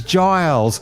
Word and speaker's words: Giles: It is Giles, like Rupert Giles from Buffy the Vampire Slayer.